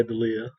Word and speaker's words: D'Elia: Chris D'Elia. That's how you say his name, right? Yeah, D'Elia. Yeah.